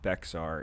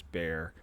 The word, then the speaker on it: Bexar: out there it's not bexar it's bear i had to learn that lesson too the x is silent i know it's stupid